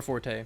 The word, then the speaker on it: forte: Okay, so if you Google define fort, it gives two pronunciations, and either fort or forte, so.